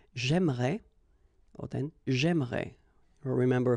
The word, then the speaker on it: j'aimerais: But then it's exactly the same thing, because even if you get this here and here, you don't pronounce it. So it will go like j'aimerais, or then j'aimerais.